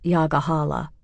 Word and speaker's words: Yager Hollow: Residents pronounce it Yagahala.